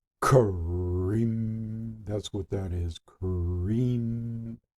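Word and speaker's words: krim: cream but it's not the I is pronounced with an E so it's cream cream that's what that is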